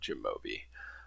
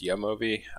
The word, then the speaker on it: jamovi: over how to download jimobi um or it might be pronounced yamovi I've heard both in videos so I'm not sure which is actually correct but also I'll say